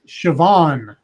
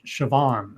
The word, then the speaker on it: Siobhan: Siobhan is how you say it. Siobhan.